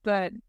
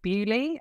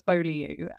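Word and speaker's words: Beaulieu: can manage my spoons as the common phrase but we'll use it so we went out a couple of weekends ago to a place called bu um which I know that an American is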